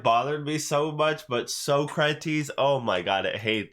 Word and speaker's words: Socrates: they try to they so kratos you know socrates they pronounce it wrong intentionally throughout the entire movie and oh my god i don't know why it bothered me so much but socrates oh my god i